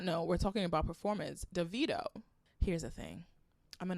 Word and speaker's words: Davido: She was like, isn't it annoying when people say your name wrong and they always like Davido? And he was like, you know it's Davido.